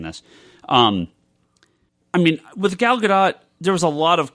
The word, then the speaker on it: Gal Gadot: I've said Gal Gadot a lot. I've been told by people in the know it's pronounced Gadot.